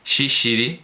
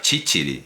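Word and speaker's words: ciciri: se guisa pero garbanzos que los sicilianos pronunciaban con una tu alveolar africada Eh Al principio Pues eso se usó para Ah claro para distinguir a los a los franceses los franceses pronunciaban Parece ser shishiri y claro había que pronunciar chichiri y los franceses los normandos pronunciaban shishiri vale esto lo da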